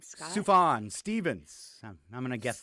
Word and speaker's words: Sufjan: Sufjan Stevens. I'm going to guess that. Sufjan Yes.